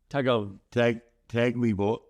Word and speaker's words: Tagovailoa: Taulia How do you pronounce your last name? Tagovailoa.